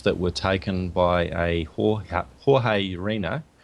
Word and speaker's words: Jorge Urena: And he presented some images that were taken by a Jorge Urena, I believe his name is pronounced George Urena, when he was on a flight from or to Peru.